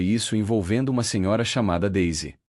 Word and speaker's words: Daisy: cumprimentou, chamando-a pelo nome, mas pronunciando de forma literal, exatamente como se lê em português, dona daisé. Quando ela delicadamente corrigiu a pronúncia para o som correto, Daisy, devido à origem inglesa do nome, o médium justificou-se com naturalidade e humildade.